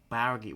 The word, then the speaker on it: bourgeoisie: Bourgeoisie. So that's how it's pronounced?